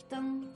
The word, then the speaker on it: 灯: Next, the plus makes deng, as in 灯笼, which means lantern, 灯笼.